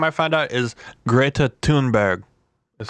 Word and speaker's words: Greta Thunberg: Did you hear about first of all, her name I found out is Greta Thunberg.